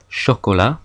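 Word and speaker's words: chat: sound exle we have ch H which in French makes a sh sound like in sha I makes a wa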